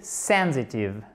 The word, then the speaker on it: sensitive: She's very sensitive. Sensitive, accent tonique, même chose sur la première syllabe.